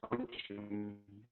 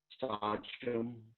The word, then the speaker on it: Sachem: I mentioned earlier, Sachem is how we pronounce the word. Sachem, Sachem, as you may pronounce it.